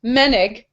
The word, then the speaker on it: Menig: Brienne wanted to let us know it's pronounced Menig, Kate Menig.